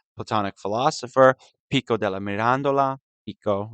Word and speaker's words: Pico: Pico, we call him. Not like Pico de Gallo, but Pico. I think it's spelled the same way, but we don't put him on nachos or burrito bowls.